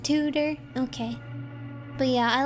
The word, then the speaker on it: Tudor: that stuff but I like two-door Aesthetics I think it's cool tutor it's it's pronounced tutor okay but yeah I